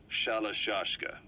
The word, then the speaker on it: Shalashka: The gorillas were using the name amongst themselves and by the time I got to hearing about it, pronunciation had wound up as Shalashka.